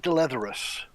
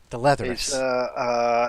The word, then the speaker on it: Dleatherus: is is it pronounced delay therus is that is that close it's I guess I pronounce it de letras the letters is how I pronounce it and it goes by